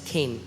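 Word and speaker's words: חן: लिए है वो है केन सी एच एन बट it's pronounce S केन और जब मैं इस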